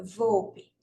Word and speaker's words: VOLP: O dicionário, não é dicionário não, é VOPE, que é o vocabulário VOPE, ortográfico, vocabulário ortográfico da língua portuguesa, tá? Anotem aí, se escreve VOLP, depois vocês podem pesquisar.